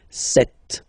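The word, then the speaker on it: sept: Then here, remember, p is not pronounced, okay, it doesn't exist, so you get this set sound, set, set.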